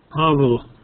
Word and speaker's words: Pavel: And Lynn, can you tell me how do I pronounce this person's first name again? Pavel.